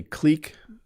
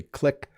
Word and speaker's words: clique: So this word has two pronunciations, and I say clique. Some people say clique.